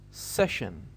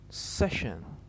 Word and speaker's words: session: as we said that this part alone is pronounced shin so it is easy